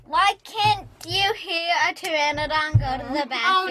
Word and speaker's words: pteranodon: can't you hear a pteranodon go to the back oh no thomas please not this one please i don't want to hear it because that pee is silent the dead if you're